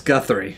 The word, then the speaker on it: Guthrie: even know how to say this guy's name girthy guthy giry I don't oh oh Guth three that's Guthrie oh Guthrie but Mike likes him giry right